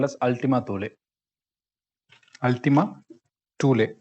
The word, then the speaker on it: Thule: Ultima Thule. It's pronounced as Tooleh, Thule.